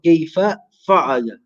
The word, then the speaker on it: كيف فعل: How do you pronounce this? Alam tara kayfa fa'ala.